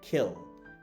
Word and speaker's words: kill: The next one is call, আমরা বলি কিল, কিন্তু উচ্চারণটা হবে খিল, খিল, খিল, খিল।